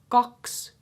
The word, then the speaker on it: kakskyt: The puhekieli version of that is kyt. Kyt. So instead of saying 20, in puhekieli you will say 20.